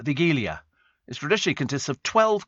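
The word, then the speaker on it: Wigilia: Estelle and uh Steve the Polish Christmas Eve meal is pronounced uh the gilia it traditionally consists of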